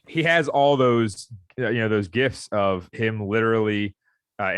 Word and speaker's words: GIF: Well, I mean, he has all those, those gifs of him literally, and it's pronounced GIF. It's not GIF. Yeah, GIF is a peanut butter.